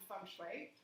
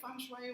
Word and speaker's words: Feng Shui: And I started out in Feng Shui, but over the course of those years I